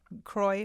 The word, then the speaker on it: Croy: And that's an interesting name, Croy McCoy. I mean, that's your name, right? Yeah, it's Yeah. where my mom found it. Well, she wanted it to rhyme with the last name.